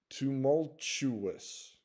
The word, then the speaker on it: tumultuous: Tumultuous. So you'll notice the T at the beginning of the word, the TU is TU, and the second instance of the TU is said as CH.